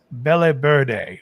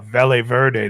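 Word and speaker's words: Partagás: never had before is the Partagas Belle Verde, or Velle Verde, depending if you're pronouncing your V's as V's.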